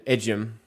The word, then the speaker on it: Ejim: basketball everywhere he's played we brought in Melvin ejim that's how you say it and he was